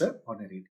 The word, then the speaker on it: honorarium: यहाँ पर H silent है। शुरू शुरू में जब इंग्लिश नहीं आती थी तो मैं इसको ऑनरेरियम पढ़ा करता था, लेकिन नाउ इट्स ऑनरेरियम।